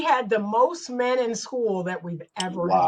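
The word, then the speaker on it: Skool: It's on the school platform and school is spelled sk o l.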